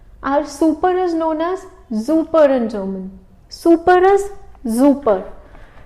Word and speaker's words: super: Just simply word is same, everything is same, just the pronunciation is changed.